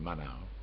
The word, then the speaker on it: Maenhout: Maenhout, M-A-E-N-H-O-U-T, pronounced Manau.